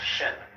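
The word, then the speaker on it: 心: please pacify my mind in Chinese mind is um this word pronounced shin and shin is here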